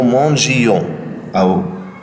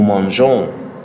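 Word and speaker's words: mangeons: لان ده كان هيغيروا النطق خالص. كنت هقول نو مانجيون لكن انا عايز اقول ايه؟ نو مانجون، مش نو مانجيون، نو مانجون.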